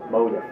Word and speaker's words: Motif: back in the day you could tell a local from a taurus by how they pronounce motif number one motive you ask kenny poorly he goes automotive you know that's how he says it the meaning of